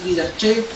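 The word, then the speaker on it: Didache: No recuerdo la palabra exacta, didaché, se pronuncia, pero de ahí viene la raíz de la palabra didáctica, enseñanza sistemática de los apóstoles.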